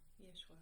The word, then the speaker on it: Yeshua: Oh, Yeshua.